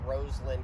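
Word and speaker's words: Rosalynn: meet uh Jimmy and Roslin Carter also yes that's how you pronounce it Roslin not Roslin I got to do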